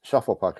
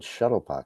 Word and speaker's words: Shuffle Puck: You said the name wrong. I'm like, oh, what'd I say? He said, you said Shuttlepuck.